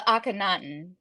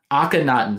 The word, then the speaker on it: Akhenaten: came out recently and help me with the pronunciation uh Akhenaten akhanaten so I really was drawn to the first